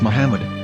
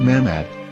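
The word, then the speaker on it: מחמד: a after the H according to Ben Yehuda Hebrew English dictionary it is correctly pronounced as Muhammad not ma'am ad so how we're going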